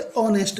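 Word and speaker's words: honest: तो ये एच से है ना, लेकिन ये साइलेंट रहता है, ये साइलेंट रहता है, एच यहाँ आवर की तरह है, तो क्या होगा, एन। एन ऑनेस्ट, हो नहीं बोलते, ऑनेस्ट बोलते हैं।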